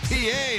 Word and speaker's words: Pie: From a shot of Jack to a piece of pie, that's how you spell it, but not how you yell it. It's Felix P.A.